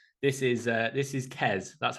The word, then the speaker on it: Qais: that doesn't know this is uh this is kez that's how you're supposed to say his name